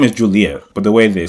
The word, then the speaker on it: Juliet: Intended to be pronounced Juliet.